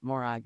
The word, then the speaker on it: Morag: Okay, I have to interject here because it's this humanitarian city south of Morag, as you pronounce it properly, not Morag as I did initially.